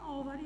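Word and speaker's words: over: यहाँ पे ओवर, इसको क्या बोलते हैं अपन, हाउ to pronounce this word, इसको बोलते हैं ओवर, इसको होवर नहीं बोलते, इसका एच साइलेंट होता है, ठीक है।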